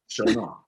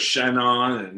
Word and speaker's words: Chagnon: Chagnon. So hot, no, Chagnon. But then it was Shannon, and people calling it during the scenes, and I'm like looking at them going, "You're really not pronouncing her name right."